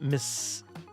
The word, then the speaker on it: Mississauga: It's pronounced Mississauga. Oh, okay. Mississauga. Sounds like Minnesota, but wrong.